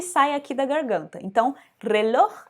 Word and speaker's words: reloj: Então, reloj é uma palavra que tem o J no final da palavra. Você também vai pronunciar da mesma forma.